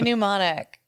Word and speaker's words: mnemonic: the podcast anyway 1994 thank you Jude Johnny New Monic uh in the 21st century um SC sensitive